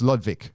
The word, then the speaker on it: Ludwig: I can't believe I'm having to write this, but my father, I've never been able to pronounce his middle name, but Edward Ludwig, it's Ludwig, that's right.